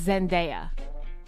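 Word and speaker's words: Zendaya: and Zena the actress it's Zena cuz I say Zenaya Zena yeah it's Zena they are emphasizing the day Zena Zenda sometimes I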